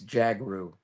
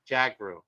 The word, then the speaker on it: Jhagroo: It's actually pretty simple. It's Jagar. Jagar. That's it. All right. It's like Django. Oh, okay. But Jagar.